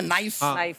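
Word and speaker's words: knife: सलमान जी आपको नाइफ word मालूम है नाइफ। उसमें शुरुआत में जो के होता है वो क्या है? साइलेंट आप भी रहिए।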